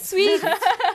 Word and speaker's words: Suits: Alors, comment on prononce Suits? Ah, Sweet.